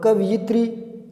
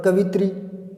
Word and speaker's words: कवयित्री: सकते हैं कोई भी चार कवयित्री कवयित्री और कवयित्री और कवित्री 420 प्रकाश लीजिएगा ऊपर पसंद आएगा कि कवि